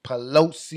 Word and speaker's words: Pelosi: Pelosi.